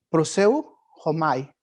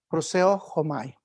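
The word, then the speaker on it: προσεύχομαι: La palabra original en el griego es una palabra así difícil de pronunciar, proseu homai. Proseo homai.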